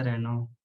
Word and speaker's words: Renault: सर वो cars का भी एक ब्रांड है ना, रेनो। हाँ, कहाँ से शुरू होती है स्पेलिंग? RENAULT। वो भी NAU। फ्रेंच ब्रांड है सर। ये है। LT। हाँ, हाँ सर। साइलेंट हो जाता है।